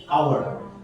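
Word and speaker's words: hour: এটার উচ্চারণ কি? আওয়ার।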